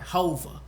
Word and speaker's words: Hova: No, you didn't say it right. Hova.